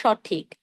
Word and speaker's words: সঠিক: এর উচ্চারণ হবে সঠিক। ও এর মতো হবে না, অ এর মতো হবে।